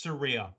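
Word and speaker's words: Saraya: part of the segment she goes it's Surya by the way perfect yeah the person whose name it is said exactly how to pronounce it that should be how we pronounce it from now on but Tony storm Serena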